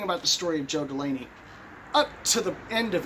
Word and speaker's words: Delaney: it so specifically because i had his name wrong i'd call him joe dinello and my friend lawson lambert would say it's delaney it's delaney so it kind of